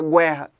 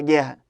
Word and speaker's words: guerra: Porque o U não é pronunciado. Ou por um acaso você fala guerra. Vamos para a guerra. Não, é guerra.